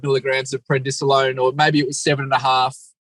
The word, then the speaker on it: prednisolone: Is that how you say it, prednisolone? Oh, there's prednisone, and then there is prednisolone.